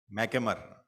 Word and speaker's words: McNamara: McNamara. That's how to pronounce the name.